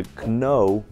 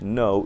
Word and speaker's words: know: Вместо know или knife должны говорить know или knife.